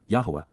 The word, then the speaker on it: Yahweh: be fulfilled by the teachings and guidance of Yahweh, Yahwa, the proper pronunciation of the name of Yloah, God as